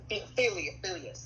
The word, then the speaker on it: Phileas: Or I usually say Phineas because that's his name. Or Phileas. Phileas, yeah.